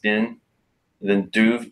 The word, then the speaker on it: Beinn Dubh: you heard of the it's spelled bei in in like I think it's pronounced bin then doof deep Dubh from that